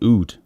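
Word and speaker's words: oud: um on a side note an amazing uh Ood player UD is how you how you write it um food that's how you pronounce it amazing Ood player is Anwar Brahim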